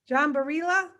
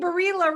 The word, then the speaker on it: Barilla: It happens to be a name that gets different pronunciations. Spanish, Barilla, but I'm not Spanish, I'm Italian. So in Italian, it's Barilla, but Americanized, it's Barilla, like the pasta. Barilla pasta, but it's Barilla.